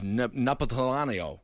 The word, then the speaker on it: Napolitano: It might be Judge Napolitano from Fox News. That is not how you say that. How do you say his name? I've never been able to say it. It's Neapolitan ice cream.